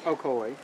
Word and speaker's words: Ocoee: We're in the, how do you pronounce it, Ocoee? Ocoee.